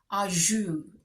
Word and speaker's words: au jus: to look it up on Google how to pronounce this. Au jus.